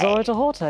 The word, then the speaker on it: Zora Dehorter: Am I pronouncing the name correctly? Yes, you did actually. Hi. Zora Dehorter, yes.